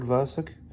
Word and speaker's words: Vlasic: mark edward ed uh i thought i've heard this pronounced as mark edward vlasic but it looks like it's edward mark edward vlasic really nice it's a